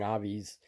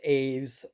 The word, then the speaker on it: Aves: Aves, I keep saying Avi's like a bird, but it's Aves. I guess that's how you pronounce it.